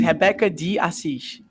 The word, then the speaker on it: Rebeca de Assis: I will, and it's Rebeca de Assis. You mean the correct pronunciation?